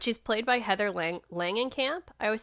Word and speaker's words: Langenkamp: um yeah but she's played by heather lang langenkamp i always say her last name wrong heather langenkamp who actually plays herself in